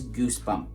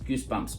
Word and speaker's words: Goosebumps: up all of these Goosebump books Goosebumps books huh Goosebump books or goo Goosebumps books how do you how do you say that okay it's goosebumps in the title with a with an S so the Goosebumps books